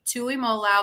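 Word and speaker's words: Tuimoloau: on jtt learn how to say it jtt Tu Imola because you're going to be saying that on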